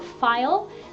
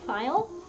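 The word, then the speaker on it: faille: from various things there's fabrics called a file which is spelled FA il le file and that's usually with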